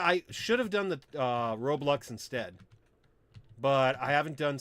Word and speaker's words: Roblox: I don't try to pronounce stuff wrong. It's Roblox.